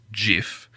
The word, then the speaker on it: GIF: declared that it's pronounced jiff but then the entire internet just went no it's not it's clearly gift because gif stands for graphics interchange format and graphics is a hard G yeah right so it